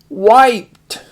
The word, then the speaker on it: wiped: Wiped. And why is that I long? Because it's at the end of the syllable.